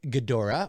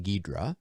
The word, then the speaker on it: Ghidorah: Gypsy Warrior says, hasn't it been confirmed that King Ghidorah or King Ghidra, depending on how you want to pronounce it, is the big bad of Godzilla versus Kong?